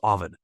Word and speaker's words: Ovid: Uh, my teachers have always pronounced it oid, but I'm guessing that uh other people have heard it as ovid.